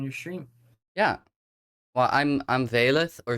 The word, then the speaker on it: Vaelyth: I'm here with, aka Vaelyth, and what I wanted to get in with her, and she's a trans streamer from the Netherlands, by the way.